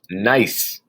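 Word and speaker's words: gneiss: monday in the slideshow nice looking rock people make countertops out of it and that kind of stuff granite when it's exposed to metamorphic process becomes nice the g is silent on that so it's pronounced nice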